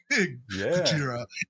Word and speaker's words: Godzilla: Because I feel like there was like this online discourse about how like, well, the Japanese pronunciation of Godzilla is this, and you get Godzilla and Gojira in the same fucking movie.